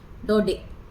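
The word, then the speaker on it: Daudet: क्या है अल्फों सो दो दिन य टी साइलेंट है बेटा इसको प्रनं ऐसे कि करेंगे हम एल्फो से ड डे है ना ड डे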